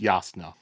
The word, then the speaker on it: Jasnah: Also, it's pronounced Yasna.